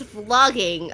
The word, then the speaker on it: vlogging: It's vlog, but not flow. yeah. Oh, I get it. It's vlogging. Oh, okay. Vlogging. Oh, it's with A, Kaela. It's with A, not with O. That's how we pronounce it, I guess. Flogging. No. Also, it's not the What? feet. Like softer. Flogging. Vlogging? Like that? I don't know. That's painful. Vlogging? Vlogging. Moona saying it right. What? Vlogging? It sounds the same. It's softer, like vlogging.